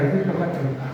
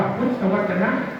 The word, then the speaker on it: พุทธวจนะ: สงสัย ไป ไม่ ได้ บาง คน เห็น พุทธวจ พุทธวจ อะไร พุทธวจนุ วัน นี้ ก็ อ่าน ว่า พุทธวจนะ คือ คำ ที่ ออก